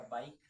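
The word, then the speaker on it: bike: यदि इ अंत में आए तो इ साइलेंट होता है।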